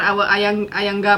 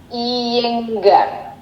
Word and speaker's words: Iyengar: Gimana kabar Ayangga Master? Oh, maksudnya Mr. Iyengar. Iya, Iyenggar ya. Gimana sih bacanya? Iyengar.